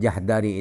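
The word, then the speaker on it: جحدري: Kata-kata Jahdari itu bacanya jim dibaca fathah, haknya sukun, hak tanpa titik, dan dalnya dibaca fathah. Nama Abu Kamil adalah Fudail bin Husain. Kemudian Jahdari itu dinisbatkan kepada kakek,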